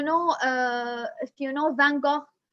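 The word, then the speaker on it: Van Gogh: uh if you know van gaal or what or in the dutch they say it like funko who is a painter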